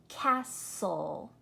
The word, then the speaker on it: castle: Castle, whistle.